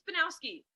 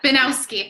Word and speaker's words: Binowski: Am I saying it right? It's Binowski. Yeah. Binowski.